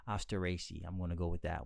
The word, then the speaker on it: Asteraceae: You do want to stress. Asteraceae. Yeah, I'm going to take you out to dinner and we're going to get some Asteraceae. On the third syllable, on the raised syllable. Asteraceae. The other way of saying it is as Asteraceae. Asteraceae.